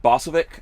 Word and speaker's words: Bosovik: special show we've got uh Pavel is it bossovic am I saying that right yes sir right